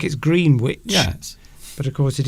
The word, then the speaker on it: Greenwich: Alessandra asks, how do you pronounce that word? It's Greenwich. Greenwich.